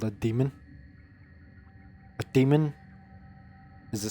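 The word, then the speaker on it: daemon: There's a thing in coding or program called a demon. A demon is spelled D A E M O N.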